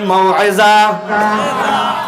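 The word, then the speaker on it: موعظة: আইন দিয়ে উচ্চারণ বলেন মাউইজা।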